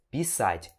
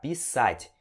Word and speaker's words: писать: que a entonação, né, a parte tônica desse verbo é no A. Então você vai pronunciar pisать e não pisать, com a parte mais forte aqui no Pi. Se você pronunciar pisать, significa fazer xixi, né?